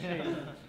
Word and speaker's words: Txell: Yeah, that TXELL is Che. Like Texel Guevara, right? Okay, Like, Che. That's how you pronounce it.